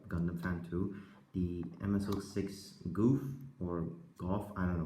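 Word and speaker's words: Gouf: name is like that starts with g-o-u-f I know the very weird name but I usually pronounce it as golf because I don't want to make fun of his name because of it sounds more like goofy I don't want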